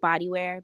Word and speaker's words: Badewear: It's pronounced Bodywear, BADEWEAR on Instagram.